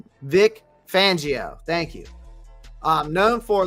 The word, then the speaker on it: Fangio: a coaching tree of with Vic uh Vic fajit Vegeta I cannot pronounce the guy's last name Vic fangio thank you um known for living in big